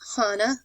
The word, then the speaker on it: Hanan: power the city was divided into two sections Hana upper or high and hon lower um Hanan is spelled h a n a n and Huron